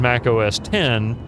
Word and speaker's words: Mac OS X: If Liv Caesar, it's like it's like with Mac OS X, which was always pronounced as Mac OS 10, right?